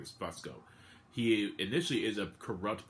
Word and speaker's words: Fusco: I want to say I want to say that's how you pronounce his last name, is Fusco.